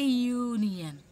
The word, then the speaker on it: union: a union member okay here also the word began with you u is an overlater we all know but here it is producing a consonant sounding okay so that's why